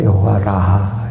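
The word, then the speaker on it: יהוה רפא: 치유하는 주 여호와 라아라고 그러죠. 여호와 라하 히브리어 발음은 그렇습니다.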